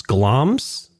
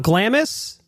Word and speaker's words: Glamis: today we stand before pronounce glams not Glamis I've been Li to